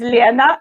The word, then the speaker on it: Lena: My name is Lena. It's exactly how Suki pronounces.